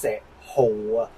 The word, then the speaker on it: 石斛: want its proper name Actually, this character is pronounced "shi hu."